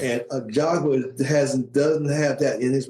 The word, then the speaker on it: Ajagba: Well, I've said it's a Ajagba. Ajagba. That's how I pronounce it.